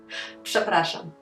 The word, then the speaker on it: przepraszam: Przepraszam. Przepraszam.